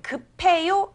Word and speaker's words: 급해요: 그리고 급해요라는 표현이 나왔는데 급해요라고 적지만 읽을 때는 급해요 이렇게 이어서 읽어줍니다.